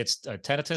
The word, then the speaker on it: tinnitus: Again, some people call it tinnitus. How do you pronounce it? It's tinnitus.